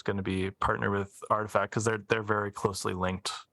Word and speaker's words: RTFKT: Are they artifact? I think is how you say it.